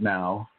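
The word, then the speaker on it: não: And so even though there are some similarities within that language, like no is nao, or is now, N-A-O is no. And, you know, they pronounce it now.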